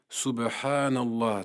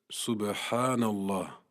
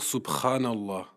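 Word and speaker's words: سبحان الله: Il s'agit de la lettre Ba, l'équivalent de la lettre B dans l'alphabet français. Puis se trouve la lettre Ha, sans équivalence dans la langue française. Il ne faut pas la prononcer comme la lettre Kha. Il ne faut pas dire Subhanallah. Ceci est une erreur répandue qui modifie le sens.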